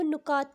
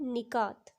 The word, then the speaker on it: نکات: کی، نکات اور نکات۔ اکثر میں نے لوگوں کو نکات کہتے ہوئے سنا ہے، جو کہ غلط ادائیگی ہے۔ اس کی درست ادائیگی ہے نکات۔ تو چلیے چلتے ہیں